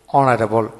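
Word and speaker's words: honourable: Added পড়বে অ্যান বসে, কারণ হলো এইচ এর উচ্চারণ হয় না সেক্ষেত্রে। যেন honest, he ইজ an honest man, hour, we need an hour to go there, অনারেবল এয়ার, এই 4-5টা শব্দের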